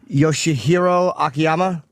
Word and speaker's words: Yoshihiro Akiyama: never know how to say this guy's name yoshihiro akiyama that's right I actually got it right okay